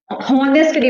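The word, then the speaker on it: honest: ऑनेस्टली बोलते हैं। यहां पे एच साइलेंट है। यानी कि ये एच साइलेंट है। तो आप इसको प्रोनाउंस नहीं करेंगे। क्या बोलेंगे? ऑनेस्ट बोलेंगे।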